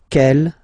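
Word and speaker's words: quelle: same way and then the feminine form is written like that q l l but it's pronounced like the masculine form k at the masculine Kell at the feminine okay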